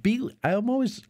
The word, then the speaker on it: Beeghley: Beeghley. There's a hard G in there.